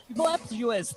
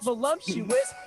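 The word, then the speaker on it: voluptuous: GIRL, they be voluuptuous, not voluumptuous.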